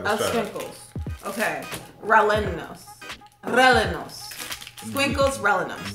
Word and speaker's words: rellenos: Squinkles, rellenos. The double L is a Y.